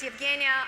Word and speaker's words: Evgeniya: mislead my name so one more time my name is evgenia i'm a chief operating